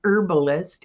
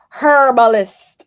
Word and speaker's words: herbalist: saying it right, an herbalist in a past life. I know some people pronounce the H, other people don't. Listen, if you're Jamaican, it's herbalist.